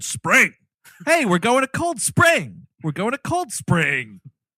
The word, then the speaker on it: Cold Spring: of that town the the accentuation is on the word cold not the word spring it's cold spring yeah everyone in this movie is cold spring hey we're going a cold spring we're going to cold